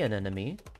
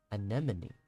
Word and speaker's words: anemone: can ask your friends so see an enemy is apparently similar no me it's spelled right there an enemy anemone I've been saying it wrong sometime oops anemone anemone anemone anemone anemone